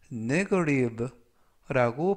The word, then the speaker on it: negative: 되겠고요 이때 조심하실 점은 끝부분에 있는 알파벳 티가 연음에 의해서 부드럽게 트가 아니라 르 그래서 negative라고 발음하시면 더 좋겠습니다 품사는